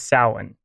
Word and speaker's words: Samhain: among others but the standard Irish pronunciation is Salin and the Irish are